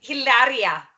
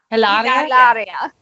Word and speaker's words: Hilaria: Hilaria. Hilaria.